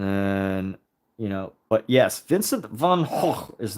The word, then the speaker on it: Van Gogh: you know but yes Vincent van H is not pronounced Vincent Van go not van uh it's just it's h according to the Dutch which he was a Dutch artist so Dutch people obviously